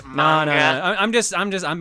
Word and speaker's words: manga: give a anymore actually it's pronounced manga I'm just I'm just I'm being nice come